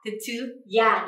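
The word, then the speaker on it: 徹夜: Thức đêm thì mình sẽ có cách đọc là thế chứ ya ですね, thế chứ ya.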